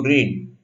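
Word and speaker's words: read: रीड का रेड हो जाता है, रेड हो जाता है। पास्ट टेंस और पास्ट पार्टिसिपल का उच्चार एक ही है, रेड, रेड।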